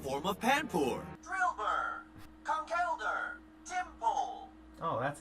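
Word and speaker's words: Tympole: Drillbur, Conkeldurr, Timpole. Oh, that's how you pronounce it.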